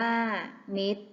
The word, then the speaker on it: มิตร: บุตร อ่าน ว่า บุตร มิตร อ่าน ว่า มิตร ต่อ ไป เรา มา